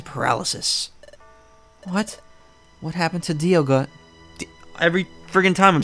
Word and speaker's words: Dialga: that a lot, I should know the proper pronunciation. Dialga. Alright, so it's a D. It's Dialga. I thought it was like dial, like a clock, because it's time. Dialga.